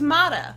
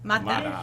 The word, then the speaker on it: Mata: pronounced Mata. Mata.